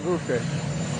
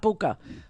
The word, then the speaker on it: Bucha: It's Bucha, not Bucha. Bucha, like butcher. Bucha. Putin is a bucha. That's how you say it.